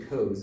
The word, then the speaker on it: Coze: The word Coze means in English, it's actually Coze is how you're supposed to pronounce it in English.